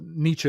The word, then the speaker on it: Nietzsche: First of all, Nietzsche is actually the correct way to pronounce it. If you're going to go with German, by the way, I'll just put that down. But Nietzsche is fine.